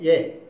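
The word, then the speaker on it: यह: പക്ഷേ നമ്മൾ സംസാരിക്കുമ്പോൾ യഹ് എന്ന് പറയാറില്ല, വഹ് എന്ന് പറയാറില്ല. നിങ്ങൾ എവിടെയൊക്കെ യഹ് എന്ന് കണ്ടോ അവിടെയൊക്കെ നിങ്ങൾ എന്ത് പറയണം, ഏ.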